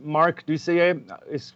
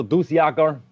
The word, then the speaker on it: Dusseiller: Marc Dusseiller was kind of French pronounced properly, finally. Also Dusjager, but I also have names from other parts in the world, like or.